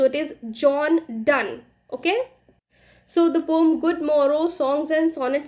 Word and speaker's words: Donne: एन एन ए और आईटी इस pronounced एक दान डोनी नहीं बोलेंगे इसको जॉन डॉनी नहीं है जॉन दो भी नहीं है आईटी इस जॉन दान ओके सो विले वे